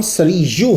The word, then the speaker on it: سری: غور سے سن لیں، آپ کا نام سریو ہے اور یہی تلفظ ہے، باقی سب ہم نے بنائے ہیں۔ رجل سریجل، جانتے ہو معنی کیا ہوتا ہے؟